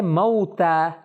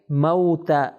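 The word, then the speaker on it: موتیٰ: Next جو word ہے وہ ہے موتا. تلفظ اس کا ہم صحیح کریں, یہ ہے موتا.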